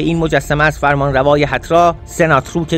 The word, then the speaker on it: سناتروک: مثلا نگاهی کنیم به این مجسمه از فرمانروای هترا، سناتروک دوم که آن را سناتروک هم تلفظ کردند.